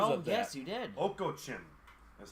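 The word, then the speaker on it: Okocim: Oko Chin is how you pronounce it.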